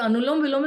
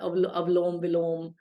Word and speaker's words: Anulom Vilom: So the Anulom Vilom is the most mispronounced word that I've heard. I've heard people calling it Avlom Vilom, anything, kuch bhi, you know.